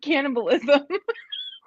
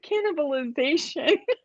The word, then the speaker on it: cannibalization: a tough word i kept calling it keyword cannibalism it's keyword cannibalization here we go he